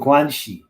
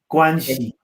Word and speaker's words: guanxi: there's almost a currency in relationships it's called guanxi and you have to build this this is